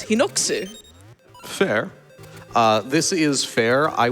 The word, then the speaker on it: Hinox: It's the same thing with Hinox, like where people say Hinox, and I'm like, but the Japanese pronunciation is Hinoksu.